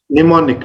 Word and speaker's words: mnemonic: Many monic, and some Mnemonic, are mnemonic. mnemonic, M is silent, mnemonic.